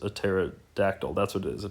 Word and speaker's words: pterodactyl: The P is silent, like a pterosaurus, a pterodactyl.